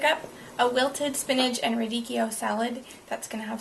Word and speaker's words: radicchio: Radicchio!